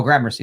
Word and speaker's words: Gramercy: do I don't know or Mercury Gramercy oh Gramercy thank you thank you uh thank you um it's terrible he assumed by someone claimed he installed the video camera in 1990.